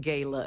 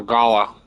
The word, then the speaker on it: gala: Not much other than the fact that they host these wonderfully entertaining gayla events. Sheila Hullbrook. Let me just say Gayla. It's pronounced galla.